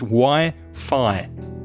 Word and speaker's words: Wi-Fi: So it's Wi-Fi. The sound is I.